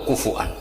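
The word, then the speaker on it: كفؤا: Itu bacanya seperti itu, kuf'an atau kufu'an bil hamzah.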